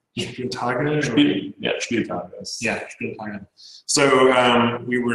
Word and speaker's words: Spieltag: Did I pronounce that right? Spieltage. Yeah, Spieltage.